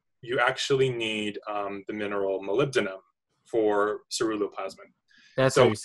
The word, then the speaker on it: molybdenum: actually need the mineral molybdenum for ceruloplasmin that's always saying what I said that's how you say I would I always pronounce it wrong I'm like mall Biddy um I don't know